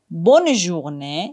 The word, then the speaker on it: bonne journée: En revanche, dans bonne journée et bonne soirée, le N est bien prononcé.